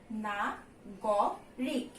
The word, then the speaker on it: নাগরিক: দেখো এখানে কি লেখা আছে, লেখার উচ্চারণ হচ্ছে না গ রিক। হ্যাঁ, কিন্তু এটাকে আমি কিভাবে উচ্চারণ করি? না গো রিক। গ এর সঙ্গে আমি একটা কিন্তু ওকার যোগ করে দিই যখন এটাকে আমি কি করছি, উচ্চারণ করছি।